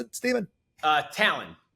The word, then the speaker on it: Talon: pronounce it Stephen uh Talon t a l o n like the eagle claw people are always like